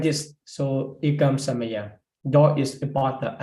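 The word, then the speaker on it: ekaṃ samayaṃ: So, but if you know, this is referring to the Nikahita, which have to pronounce with the closed mouth. After that, you need to close.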